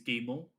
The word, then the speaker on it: Guillemot: Yves Yeez Guillemont, or something like Guillemot, that. I think it's Guillemot.